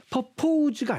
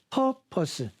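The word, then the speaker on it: purpose: 뜻입니다 purpors purpors purpos 퍼포즈가 아닙니다 발음 잘 보셔야 돼요 퍼포즈가 아니라 퍼퍼스 퍼퍼스 목적 의도 용도 한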